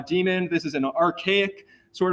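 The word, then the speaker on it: daemon: word up here uh demon with an a inside of it it's still pronounced uh demon this is an archaic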